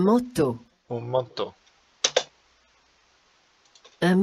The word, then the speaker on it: manteau: We might look at this and say, it says mantio, but here the EAU is an O sound, and the AN is an O, so you get un manteau.